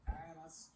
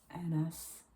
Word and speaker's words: Annas: 없는데 그렇게 하는 경우는 거의 없고 아나스 안나스. 안나스. 별로 중요한 사람도 아니니까 그냥 발음 좀 틀려도 괜찮지만은 안나스. 그 발음은 정확하게 하는 게 좋아요.